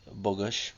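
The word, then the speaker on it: Bogush: Angela who's played in this episode by Elizabeth bogus if I'm pronouncing her last name correctly it's b-o-g-u-s-h and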